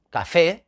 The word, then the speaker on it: café: ahí tenemos un ejemplo café café termina en vocal y café la sílaba tónica es la última fe pues si termina